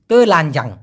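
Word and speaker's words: telanjang: এখন অনেকে এই তে না বলে র উচ্চারণ করে, মালয়েশিয়ানরা দেখবেন ওদের রটা চলে আসে অনেক ক্ষেত্রে, কিন্তু মূলত র কিন্তু উচ্চারিত হবে না, তেলানজাং।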